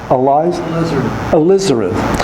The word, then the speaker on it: alizarin: Terre verte, how do you pronounce Alizar? Mark, you were a painter. Do you say alizarin? Alizarin.